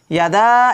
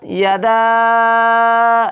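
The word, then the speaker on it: يَدَا: ইয়াদা, এটা কি মধ্যে মুনফাসিল হবে, আর এটাকে 3 আলিফ করে টেনে পড়তে হবে। তাব্বাত ইয়াদা, এরকম করে 3 আলিফ করে টেনে পড়তে হবে।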